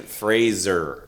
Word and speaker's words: Fraser: It's Brendan Fraser. That's how they say it. Oh, okay. That's how you say it. Not Fraser. Not Fraser, like the show.